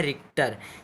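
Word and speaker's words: Richter: इसका जो यह मतलब इसका सही उच्चारण है रिक्टर एक ना रिक्टर इस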